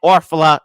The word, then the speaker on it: Orfalea: content creator to say his name right, Orfalea, joining us here, and I'm gonna say it with the belt.